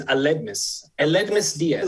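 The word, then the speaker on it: Aledmys Díaz: Eldemus Diaz, is that how you pronounce it, Mr. Ratner? The way I say it is Eledmus Diaz.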